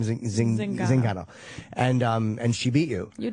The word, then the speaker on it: Zingano: Zingano.